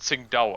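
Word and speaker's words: Qingdao: pronounced sing the city of sing da is pronounced sing Dow according to the Chinese I know but here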